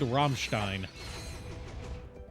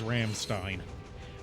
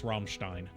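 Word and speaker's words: Rammstein: Metal oh are you familiar with the band romstein romstein no I am not you might know them as Ramstein um but the proper pronunciation CU they are German is Ramstein um popular indust German industrial metal Act uh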